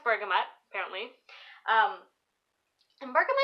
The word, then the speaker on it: bergamot: very long time so anyways so it is pronounced bergamot apparently umber come it's an interesting one because